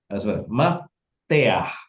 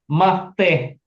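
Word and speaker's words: מפתח: Supaya kalian tahu bahwa ini bacanya bukan mafteh. Ini bacanya mafteah.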